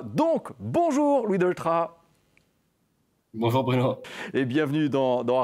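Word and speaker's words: Delétraz: Vous savez que la plupart du temps, on prononce son nom de famille avec le Z à la fin, mais concrètement, il ne faut pas. Donc, bonjour Louis Doltra.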